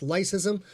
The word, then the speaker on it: leucism: Sean, yes, it's leucism, which I believe is pronounced lycism.